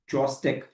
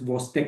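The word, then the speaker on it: Chvostek: Though we write it as Chostek, it is pronounced as Vostek sign.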